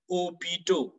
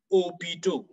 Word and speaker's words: hôpital: For example, when you talk of hospital in French, you say hôpital, hôpital, meaning le H est muet. It is silent.